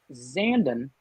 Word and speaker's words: Zandon: gentlemen uh leans in zandon zen zanden like brandon that's how i learned how to pronounce it sandin or messier messier